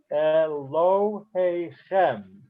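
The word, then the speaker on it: אֱלֹהֵיכֶם: Elohe Chem. Elohe Chem. You hear the difference? There's a slight stress on lo, but the main stress is on the last word.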